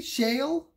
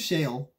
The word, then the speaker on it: Shaile: this so shale shield i don't know how to pronounce i think it's shale it looks like shale and ambrose so i